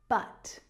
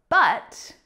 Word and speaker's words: but: So when it's stressed, it's pronounced but, but. I'll help you, but I need a favor first. More often than not, but is usually unstressed and the pronunciation changes. So instead of but, it becomes but.